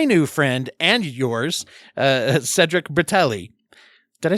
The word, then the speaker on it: Cedric Bertelli: talk to my new friend and yours uh Cedric bratelli did I say your name right I should